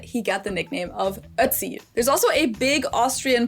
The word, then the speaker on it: Ötzi: Ötzi. That's how his name is pronounced in German, at least. In English, I've literally heard all kinds of pronunciations. Ötzi. Even in documentaries, I've heard Uzi, Otzi, Azi, everything.